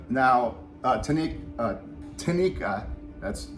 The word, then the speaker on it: Tineke: this Vibe yep now uh to Nick uh Tanika that's how you pronounce her name um she decided to play